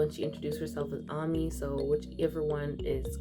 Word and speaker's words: Ami: Caro, Tamara, Amy, or Ami. I've heard her pronounce her name that way.